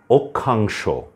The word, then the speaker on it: অক্ষাংশ: আছে পরীক্ষা অক্ষয় তারপরে গুভুক্ষা বুভুক্ষা এই শব্দটির উচ্চারণ হচ্ছে ক খ এর মত অক্ষাংশ পক্ষান্তরে পাক্ষিক এখানে মধ্যে কিটা মধ্যে আছে উচ্চারণ